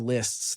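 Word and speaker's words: Liszt: favorite records is Greg Lists. That's L I ST album. I know it's it's spelled with a Z in it.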